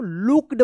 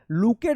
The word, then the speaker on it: looked: LOOKED, क्या पढ़ेंगे इसको, लुक्ड पढ़ेंगे, LOO है तो उच्चारण होगा, लुकेड मत पढ़िएगा, लुक्ड, WEAK, EA एक साथ है तो ई उच्चारण होगा, वीक, एंड HUNGRY हंग्री।